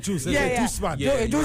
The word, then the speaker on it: Duce: It's Juice.